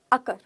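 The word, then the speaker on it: occur: अब मैंने बोला ना जब र आएगा तो आप शांत हो जाओ थोड़ा थोड़ा शांत हो जाओ र की साउंड अक किसी को नहीं समझ में आ रहा पहली बार बोलना अकर फिर कहना र है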